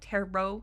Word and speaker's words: tarot: Although I'm pretty sure that these tarot cards, I think that's how you say it, tarot, even though it's spelled like tarot.